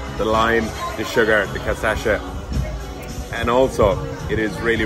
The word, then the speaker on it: cachaça: So cachaça, yeah? So how do you pronounce it?